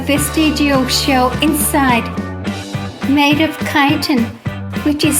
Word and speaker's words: chitin: Although the squids lack exterior shells, they have a vestigial shell inside, made of chitin, which is spelled chitin.